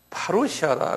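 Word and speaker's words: παρουσία: 파루시아라 그래요. 한번 발음해 보세요.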